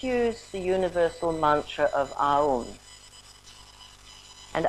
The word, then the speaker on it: Aum: And as we do this, let's use the universal mantra of Aum. And Aum has actually 3 syllables, which means creation, maintaining that which is positive, and destruction of that which doesn't serve us, the imperfections.